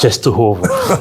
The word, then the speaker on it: Częstochowa: took the train to ches cheso chest toov chest toov that's right Nice pronunciation it's difficult sometimes to pronounce this polish